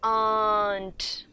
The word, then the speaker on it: aren't: This R has to be silent and we say aren't.